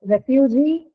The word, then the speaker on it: refugee: In the case of the example refugee, the point was because refugee has a syllable with a long vowel, and which is that one, the last one, right?